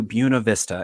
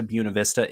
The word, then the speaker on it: Buena Vista: to buna vista and first thing you need to know if you get to buena vista is that's how you say it i know that's not what your spanish teacher in high school taught you and your spanish teacher in high school was correct if we're talking about a beautiful view but